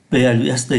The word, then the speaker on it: plus: Đặc biệt khi so sánh danh từ chúng ta có de và chữ plust chúng ta phải phát âm ký tự s, plus de que, autant de que, moins de que.